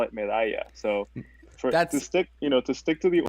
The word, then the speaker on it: Medalla: so you call it medalla. So, to stick to the origin story, I'm going to call it medalla, and we'll just go from there. I've always learned that two L's is a Y, and when I saw